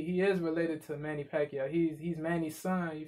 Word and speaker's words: Pacquiao: yeah because his name his name is pacquiao pat you know what i mean pac p-a-c-q p-a-c-q and p-a-c they have the same pronunciation pac-man and he is